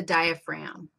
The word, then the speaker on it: diaphragm: masked separator it's the diaphragm fragum but don't say the g because it doesn't it's not pronounced like that it's just spelled like that so the diaphragm is